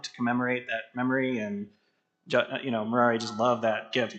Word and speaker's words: Murari: So whenever he met someone for the first time, he always said, "Hi, my name is Murari. It rhymes with Ferrari."